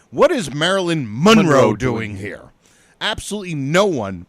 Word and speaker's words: Monroe: Then, like now, it's always been pronounced Monroe. Monroe, Marilyn Monroe. Emphasis on the second syllable.